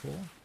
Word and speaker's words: corps: or the marine corps like corpse but it's pronounced core i believe that's correct